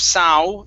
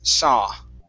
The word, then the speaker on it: saw: Now that last word, instead of sow, ending with an ow sound, okay, the A-W is an ah, okay? So instead of sow, the word is saw.